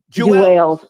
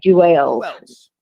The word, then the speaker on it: Juelz: Well, I got I got to go in myself with the parts about Jules Santana. Uh Jeels. Him like that. Jeels. Let me say it right. Jeels.